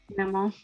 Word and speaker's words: Mammon: And the person also not decides, but kind of keeps their eye on when Mammon, or how did you pronounce it? Mammon. Because French.